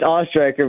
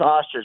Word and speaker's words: Oestreicher: Oestreicher, is that correct? It's Oestreicher, but I appreciate some people just go with Oster, so I appreciate you trying.